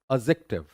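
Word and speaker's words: adjective: that is incorrect pronunciation the right one is what एडजेक्टिव एडजेक्टिव एडजेक्टिव एडजेक्ट जे ए वाला sound नहीं आता इक वाला आता है इसीलिए यहां पे दिख रहा है और ये यहां पे आप उसको एक साथ डी और जे को एक साथ लेके आते हो और सिर्फ ज साउंड में आता है ट छूट जाता है तो दैट इज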